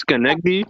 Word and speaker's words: Schenectady: Okay, I It's take pronounced Schenectady.